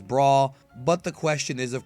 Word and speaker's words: Bra: for that one but her actual name is braw but the question is